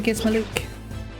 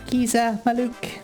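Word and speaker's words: Gizamaluke: get a decent amount of gil and whatnot, so we should be pretty well stocked up for Gizmaluk. Giza Maluk is how it's actually pronounced.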